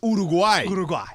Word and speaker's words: Uruguay: I anglicized it. It's Uruguay. Uruguay.